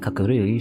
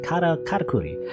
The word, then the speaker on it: katakuri: That Kakuri sure miss you too. Indeed, your I keep saying it wrong. It's like katakuri. Indeed, your katakuri are also rich with emotions.